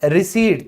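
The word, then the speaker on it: receipt: फिर है रिसीट, तो यहां पे दोनों में से कोई रूल लागू नहीं होता फिर भी पी क्या है, साइलेंट है।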